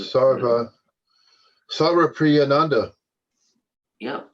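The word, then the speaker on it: Sarvapriyananda: his name sorry about sarah priyanda yep sounds about right just yeah just break it down sarva priya nanda see just just break it into three sections sarva priya nanda sagar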